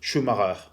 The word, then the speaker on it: Schumacher: En français, on dit Schumacher, parce que c'est la prononciation, le nom c'était un